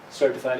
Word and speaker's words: certified: need to check here's another form of the word certified the first syllable is a strong one certified accountant and another form